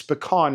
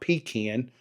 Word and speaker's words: pecan: It's pecan, not pecan. You Northerners, you got to say it correctly.